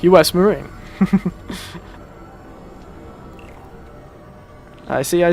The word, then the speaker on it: Marine: this game a bit i always thought it was pronounced like maron because it seems to be a bit more of a pronunciation that makes sense but yes marine i say i don't